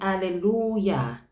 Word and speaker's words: hallelujah: If you listen to the pronunciation at the end of hallelujah, you will hear the Y sound.